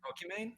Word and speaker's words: Pokimane: watching Pokimane. Who? is that's how Sorry. you pronounce it?